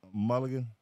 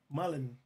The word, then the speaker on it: Mullen: Oh, Danny Mulligan? Mullen. You mad I said his name wrong?